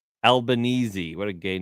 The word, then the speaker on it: Albanese: Albanese? How do you say his name? Albanese.